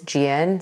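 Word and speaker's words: Jieun: My first name is Jiun, so that's spelled J-I-E-U-N.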